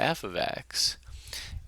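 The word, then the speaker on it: f(x): looks a bit like this and this is pronounced uh f of x and what it means is is that uh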